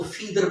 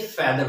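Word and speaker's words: feather: देखूंगा फेदर फिट आर ज्यादातर लोग जो है वो इसको फीडर पढ़ने हैं लेकिन ये फीडर नहीं होता है ये फेदर होता है पर जो होता है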